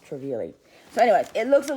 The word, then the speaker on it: Trevi: love you guys this is a Louis Vuitton traveli GM and it's I've been pronouncing it incorrectly in the other video that